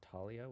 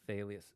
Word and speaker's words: Thalia: I never liked saying Thalia's name, because I read it pronounced as Talia with a silent H. Yeah, you would think that's the English pronunciation, but remember it's a Greek name. I think it's supposed to be Thalius.